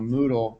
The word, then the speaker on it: Moodle: of you know what's Moodle that sounds funny you know that rhymes with noodle what is that so